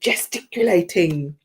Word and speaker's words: gesticulating: Now, while his Neapolitan crew were arguing and gesticulating. So it's to use gestures, especially dramatic ones, instead of speaking or to emphasize one word. It's got 5 syllables. Gesticulating. Wow.